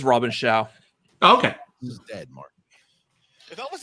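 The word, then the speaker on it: Robin Shou: in which 90s film i feel like christian mispronounced that first name isn't it i thought i thought it was like robin chu is it robin chao i think it is robin shaw okay he's dead if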